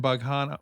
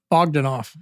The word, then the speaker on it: Bogdanoff: homicide narcotics officer bughanna how do you say your last name again Ogden off I was saying it wrong in my head for months